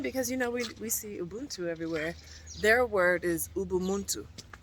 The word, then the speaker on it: Ubuntu: Ubuntu. Ubuntu and Ubuntu. Ubuntu. Ubu, not umbu.